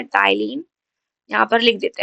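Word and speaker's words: ptyalin: हम बोलते हैं यहां पर टाइलीन। ठीक है? यहां पर पी साइलेंट होता है। हम यहां पर पी को साइलेंट करके पढ़ते हैं। टाइलीन।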